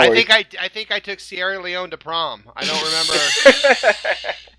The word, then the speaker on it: Sierra Leone: Yeah, I just wanted to go to the fact checkers really quick, and it's actually pronounced Sierra Leone.